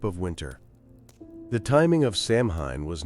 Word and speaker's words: Samhain: It was called Samhain, pronounced Samhain.